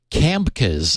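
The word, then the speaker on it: CAmkES: sel4 framework known as camcas I guess you'd pronounce it c-a-m-k-e-s to provide static what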